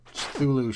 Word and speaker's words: Cthulhu: You know, once I heard that Cthulhu should be pronounced as if you're sneezing.